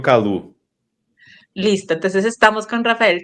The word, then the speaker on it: Callou: Calu, Calau, Cayou, ¿cómo es la mejor forma de pronunciar tu apellido? Como quieras, pero yo particularmente pronuncio Calu.